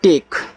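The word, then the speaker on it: take: रूप में करते हैं, और के से का लास्ट वाले ई का उच्चारण नहीं करना है तो टेक हो गया, और टेक का अर्थ होता है लेना।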